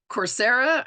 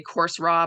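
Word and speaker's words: Coursera: different learning events um there's corsera I think it's how you say it I always want to say course raw but I don't think that's right I think it's corsera um is an online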